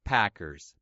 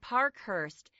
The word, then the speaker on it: Parkhurst: Chase Packers, baseball player. That's him. But actually, the reporter got his surname wrong. It should be Parkhurst.